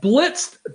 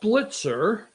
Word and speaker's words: Blitzer: It's Wolf Blitzed to me. I'm not mispronouncing it. I always called him Blitzed. What the hell? Damn. Get me all worked up. Wolf Blitzer.